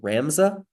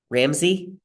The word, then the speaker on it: Ramsey: pronounce your name right is it ramza ramza Ramsey what's the proper way of pronouncing that oh uh can you repeat what you said I'm asking what your name is how do you pronounce your name oh yeah you just said it correctly Ramsey Ramsey okay I and